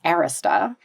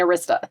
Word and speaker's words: Arista: Then he went on to found Arista Records, which my husband, who's British, pronounces Arista. Which he's like, what do you mean Arista?